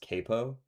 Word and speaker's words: capo: Is it actually capo? Is that how it's pronounced? I went with the Italian, but speaking of yeah, it's actually pronounced capo.